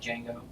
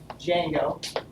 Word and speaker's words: Django: And then Python framework, Django. Django. The D is silent.